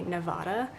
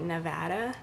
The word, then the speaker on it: Nevada: It's kind of like how East Coast Americans say Nevada, but out here we say Nevada, so we kind of make fun of East Coasters for that. So sorry if you say Nevada, but it's Nevada, sorry.